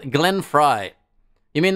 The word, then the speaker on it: Frey: It's actually pronounced like Fry. Oh, I always say it wrong. Glenn Frey.